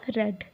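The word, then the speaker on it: read: रीड का past में हो गया रेड। इसकी प्रोनाउंसिएशन होगी रेड।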